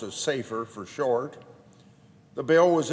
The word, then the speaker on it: SAFER: Our bill is entitled Safeguarding America's First Responder Act, or SFAR, or pronounced as SAFER for short.